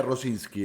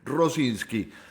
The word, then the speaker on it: Rosinski: abajo dice mi nombre, se pronuncia Rosinski, ese combinado de letras que parece tiradas al azar, a la que le pusieron dos vocales para que tenga algo medianamente pronunciable. Bueno, eso se dice Rosinski.